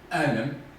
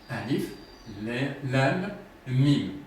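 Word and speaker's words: الم: On peut dire alam, alima, aluma. Tout ça, c'est possible. Donc, ce n'est pas tout ça. C'est des lettres séparées. A, alif, lam, mim, comme noun.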